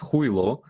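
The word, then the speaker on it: Хуйло: you say that again so we say putin who ilo and hui law sounds a bit like julio but it's huilo and uh basically it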